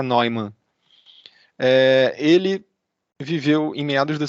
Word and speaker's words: Neumann: Um deles aí que eu sempre cito é o John von, eu tenho quase certeza que se pronuncia Neumann.